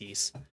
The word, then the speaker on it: Ys: But that's the action RPG series is pronounced Yeast.